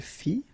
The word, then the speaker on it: fit: Il fit, elle fit, final T not pronounced.